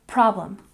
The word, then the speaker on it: problem: And problem. We stress the first syllable.